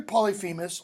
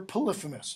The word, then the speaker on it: Polyphemus: Pronounced either Polyphemus or Polyphemus. You'll hear it both.